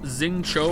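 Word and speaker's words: Xingqiu: Xingqi is pronounced Xing Cho, by the way.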